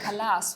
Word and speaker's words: Kalas: Dr. Kalas with an accent on the end.